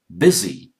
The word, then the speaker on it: busy: This one, busy. You took the sound of E.